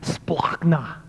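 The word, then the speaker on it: σπλάγχνα: No, this word compassion, by the way, I love how it's pronounced in Greek, splachna.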